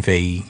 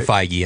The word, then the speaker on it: Feige: But Marvel has someone at the helm who's masterminded this stuff from day one, and it's Kevin Feige, or Feige, I think is how you pronounce it.